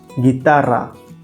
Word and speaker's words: guitarra: Same rule applies to the combinations of GUE and GUI. The U is silent. It also helps to maintain the G sound as we have in the English word go.